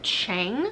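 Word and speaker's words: Heng: boy on the ship it's spelled said h-e-n-g i listen to the audiobook and it sounded like chang so i'm glad i have the audiobook to correct how i would have pronounced that and since i haven't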